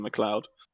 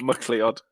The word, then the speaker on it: Kevin MacLeod: I mean, currently it's just some Christmas music I got from Kevin MacLeod. I'm glad you pronounced his name properly. Well, not MacLeod.